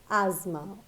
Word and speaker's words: asthma: respiratory disease we all know so it is pronounced as asthma all right so I am sure from the